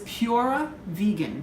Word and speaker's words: PuraVegan: But one of them is PuraVegan. That's P-U-R-A, PuraVegan Cafe. Just wanted to spell it out so you didn't think I was just saying pure wrong.